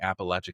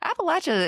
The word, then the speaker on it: Appalachia: History Class, also just did an episode featuring Appalachia content. Now, see, I got to go listen to that. See, all the cool people are talking about Appalachia stuff, right? Appalachia is it's very it's charmingly spooky, you know.